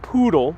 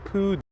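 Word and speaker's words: pudú: Not poodle, but poodoo.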